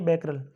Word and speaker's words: Becquerel: Next है, what is SI unit of जो है activity of A radioactive substance, ये होती है बैकरल, जिसको आप शॉर्टकट में जो है BQ बोल सकते हैं।